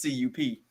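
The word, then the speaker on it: Kupp: not that's cup is c.u.p damn it so how about this is it it's pronounced cup but it pisses me off the way it's fun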